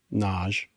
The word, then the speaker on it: Nagy: author of Hungarian descent Ivan Naj naj is spelled hyphenated n a g y and I can't say